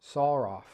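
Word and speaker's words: שָׂרָף: The Strong's has this as it comes from, and my screen time's out, it comes from the word seraph, actually pronounced saraf, which describes a burning, poisonous, or fiery serpent.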